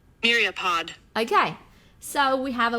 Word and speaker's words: myriapod: like you to hear how it is uh pronounced myriapod myriapod okay so we have a word here meat